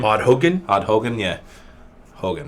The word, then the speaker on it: Haugen: Odd Hogan. Odd Hogan. Yeah. Hogan, right? I think so. Hogan. Haugen.